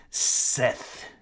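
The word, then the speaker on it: Sseth: Yes, they sort of heretical worshippers of Seth. Seth. Yes, it's spelled S-S-E-T-H.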